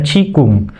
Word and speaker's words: Qigong: Seperti kalau Cina itu tulisannya Qigong, tetapi bacanya Qigong, atau bisa juga menggunakan Tai Chi.